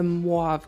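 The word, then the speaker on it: mauve: put the color so i believe it's a moive color that's how you say it correctly as you can see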